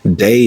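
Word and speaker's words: DAI: day Fest in Atlanta day is spelled D Ai and it stands for disruptive authentic inclusive day Fest is like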